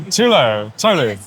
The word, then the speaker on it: Tulou: We're here at EGX, which is extremely busy today, with Angelina, who's going to talk us through Tulou. Yeah. That's how you pronounce it.